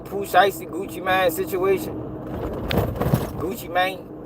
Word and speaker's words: Gucci Mane: Gucci man that's how that's how you say it.